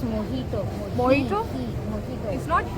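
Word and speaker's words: mojito: we order green Apple it's नॉट मोजी its pronounced S मोहितो मोहि इटस नॉट ही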